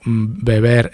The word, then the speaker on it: beber: Beber es con B, las dos, y vivir es con V, las dos. Pero se pronuncian, la B y la V se pronuncian igual, es bilabial, beber, vivir.